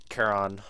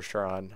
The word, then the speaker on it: Charon: So you talk to Charon, or Charon, however you want to pronounce it.